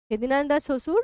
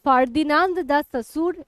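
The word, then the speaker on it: Ferdinand de Saussure: ঠিক আছে, এটা একজন ভাষা বিজ্ঞানী, ফেদিনান্দ দা শ্বশুর, বা এটা ফার্দিনান্দ দা শ্বশুর এরকমও বলা হয়। ফার্দিনান্দ, সেটাকেও ফেদিনা এরকম উচ্চারণ করা হয় চন্দ্রবিন্দু দিয়ে।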